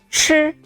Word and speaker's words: 吃: The airflow is stronger than 知. 吃.